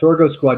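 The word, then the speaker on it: Sorgo Squad: pronouncing that right yeah Soro Squad remember I said sorgo is what they call sorghum in in Europe right yeah so listen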